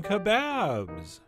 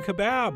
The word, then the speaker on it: kebab: always enjoy Turkish Chicken Kebabs that's right I said chicken kebab not chicken kebab when I think Kebab